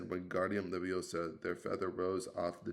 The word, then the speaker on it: Wingardium Leviosa: Wingardium Leviosa, he shouted, waving his long arms like a windmill. You're saying it wrong. Harry heard Hermione snap. It's Wingardium Leviosa, said the guard since along.